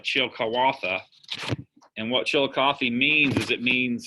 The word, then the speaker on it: Chillicothe: Chillicothe is actually the pronunciation is it's like Chilcawatha.